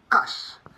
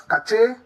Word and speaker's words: cache: You probably might have heard people pronounce this as cache, cachi, or simply catch. Well, the E at the end of this word leads many to assume a hard CH sound, which will probably go